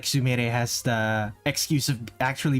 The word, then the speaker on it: Sumire: The same way when you see a Japanese name that ends with RE. With RE, you think it's for example, the name Sumire. You think it said Sumire because it's it's spelled IRE, but no, it's Sumire.